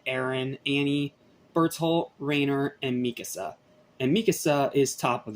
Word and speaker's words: Mikasa: of course Aaron and Mikasa are one of them sorry not Mikasa Mikasa I keep forgetting to pronounce that correctly so following graduation they